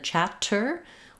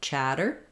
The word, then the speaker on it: chatter: app black cat vial two T's in the middle of a word especially with tter are going to be a flap in American English so rather than chatter we'll say it more like chatter chatter it sounds kind of like a d um I'll write it